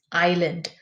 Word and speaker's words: island: Then, piece of land surrounded by water is island. So, the S is silent there.